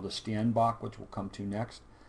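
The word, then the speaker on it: steenbok: is the Sten St this is not a Steinbach which is how I pronounced it before I got there it's a stanach and you can see how small it is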